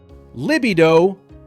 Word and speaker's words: libido: Libido, libido, libido, libido, libido.